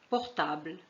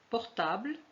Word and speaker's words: portable: مثلا portable, confiture. Je vous donne deux exemples. Portable, vous voyez qu'on a écrit un E ici, mais on ne le prononce pas.